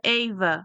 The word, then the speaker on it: Ava: Sim, se pronuncia Eva.